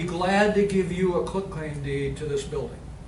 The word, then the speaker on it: quitclaim: But not a quick claim deed like a lot of, most people say that really don't know. It's quit, Q-U-I-T, claim.